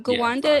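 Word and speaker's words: Gwanda: it is it's March 13th 1981 okay um Ganda is spelled g w a n d a it's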